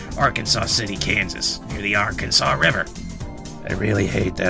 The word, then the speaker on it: Arkansas: If you're curious about present-day Etzanoa, it's located in Arkansas City, Kansas, near the Arkansas River. I really hate that after knowing I know how to pronounce Arkansas, I keep trying to say Arkansas, and it's not the right damn term.